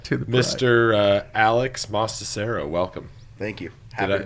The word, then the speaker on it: Mostacero: up your last name no no that was right on master cerro yeah yes it is it's pronounced exactly how it's spelled too yeah yes it